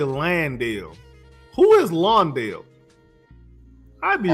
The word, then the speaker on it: Landale: Everybody be saying his name wrong. I don't understand why it's so hard to say Landale.